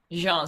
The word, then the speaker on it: Jean: Jean Sibelius, yes. Yeah, He- with he us it'd be perfect Gene. It'd be Gene in the United States.